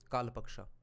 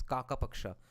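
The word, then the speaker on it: kākapakṣa: like a crow's wings kalapaksha I was pronouncing it wrong the entire time it's kakapaksha literally yeah Crow's wings the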